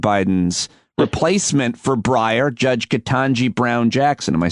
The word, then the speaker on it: Ketanji Brown Jackson: President Biden's replacement for Breyer, Judge Ketanji Brown Jackson.